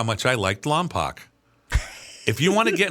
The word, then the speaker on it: Lompoc: And and I can't tell you how many people when I lived there asked me how much I liked Lompoc.